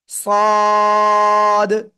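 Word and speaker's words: ص: ওকে, জিহ্বার agar সামনে নিচে দুই দাঁতের পেট ও আগার সাথে লাগিয়ে সদ, ঠিক আছে?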